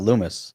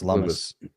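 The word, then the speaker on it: Lummis: It's not It's not Lumis, is it? No, it's Lumus. Lumus. No, it rhymes with hummus.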